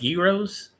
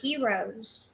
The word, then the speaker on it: gyros: It I think it's pronounced gyros. Oh, they said heroes.